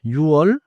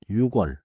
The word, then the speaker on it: 유월: Now watch two special month names.음 같이 is 6월 not 6월 is 10월 not 10월 11월 is November.